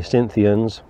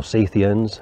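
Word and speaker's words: Scythians: scofield suggests that uh the cynthians or cythians as i should correctly pronounce it could well be in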